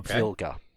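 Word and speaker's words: Wilga: I think it's a polish aircraft called a wilter or vulgar is the correct pronunciation of it he he went a little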